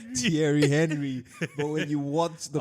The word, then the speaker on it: Thierry Henry: At that time, because we were in Nigeria, we didn't have the right pronunciation. So we would always call him Thierry Thierry Henry. Thierry Henry.